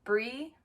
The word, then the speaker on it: Brii: Hey everybody, my name is Brii, also known as Brii with two I's, pronounced Brie, not Bri. So like Brie like the cheese, alright?